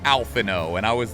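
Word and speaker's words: Alphinaud: out the oh and because you know the French and they're like nope it's just alphano and I was like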